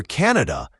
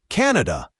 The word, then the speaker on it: Canada: And for Canada, pay attention to the stress. It's usually stressed on the first syllable. Canada, not Canada. The vowel sounds are often short and clear.